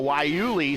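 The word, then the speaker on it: guayule: tires can come up to temperature quickly though wuli spelled Gua uh y u l e Gua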